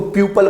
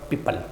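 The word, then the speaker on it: people: बच्चे इसको प्यूपल बोलते हैं, प्यूपल ना पीपल। क्या बोलेंगे बेटा इसको? पीपल।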